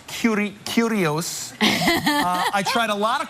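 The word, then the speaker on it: Kurios: I had a chance to go behind the scenes of Cirque du Soleil's new show, Curious, pronounced Curios.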